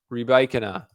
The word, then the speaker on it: Rybakina: Djokovic Wawrinka, Andy Murray, Elena Rybakina, who I am pronouncing right. We went over this at the Australian Open. Somebody in the last video came at me for saying Rybakina wrong.